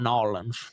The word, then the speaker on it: New Orleans: No. No, we call it Nawlins.